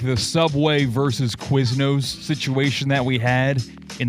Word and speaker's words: Quiznos: Like how you pronounce the word quiz and then nose. There's never no one's ever said ooh pop quiz. Quiznos.